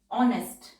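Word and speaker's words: honest: ऑनेस्ट, ऑनेस्ट, एन से पहले नॉट वाला वॉवल है, एच हमारा साइलेंट है और एस टी के लिए लूप बनाया और एन साउंड के बाद पेन वाला वॉवल।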